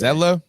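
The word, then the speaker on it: Zietlow: So it's pronounced Zetlow? Oh, it is pronounced Zetlow, yeah. Zetlow. I got to say it quick. So I don't know how the I snuck in there, but Oh, okay.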